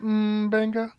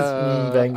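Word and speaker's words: M'Benga: First of all, it's pronounced Mbenga. He is Mbenga.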